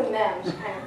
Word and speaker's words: meme: So meme comes from, it's pronounced meme. I looked this up to make sure. I heard a lot of people pronounce it incorrectly, like meme and may.